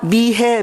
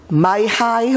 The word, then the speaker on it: 미혜: 제가 미국에 온 후에 가는 곳마다 미해 미해 그러는데 사람들이 그 이름을 발음하기 어려워해요 마하이 뭐 그래서 안 되겠다 싶어서